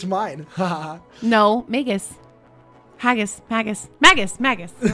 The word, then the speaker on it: magus: quite a bit magus magus it's maggots if it's haggis it's magus i'm sorry they are